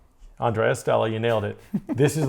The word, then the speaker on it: Andrea Stella: Andrea Stella. Did I say that right? Andrea. Andrea. Andrea Stella. Now I'll put it up there for you. This one you were confused about. Andrea Stella.